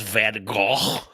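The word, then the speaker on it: Van Gogh: Hey, uh technically it's pronounced Van Go.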